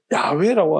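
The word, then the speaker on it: 야훼: 옛날에 성경에서 여호와는 지금 학자들이 다 발음이 그렇게 되는 거 아니라고 이야기하고 야회라고 하는데 뭐 그렇게도 뭐 발음이 될 수도 있지만은 야 저 우리는 야호야로 하나님이 야호라고 했습니다.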